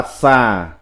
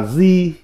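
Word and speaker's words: 蛇: Âm Hán Việt đọc là xà, còn có âm đọc là di, là xá.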